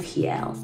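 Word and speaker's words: real: the rs are pronounced pronounced as h's in portuguese and when you do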